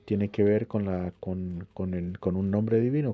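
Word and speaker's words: כה: que ver con la con el con un nombre divino, con con así hablan los profetas, co amarashem, así ellos utilizaban la palabra co, que co se escribe kaf hei, así hablaban los profetas.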